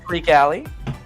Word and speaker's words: Creek Alley: But a lot of people pronounce mine wrong and say Creaky. Say your name, buddy. Creek Alley.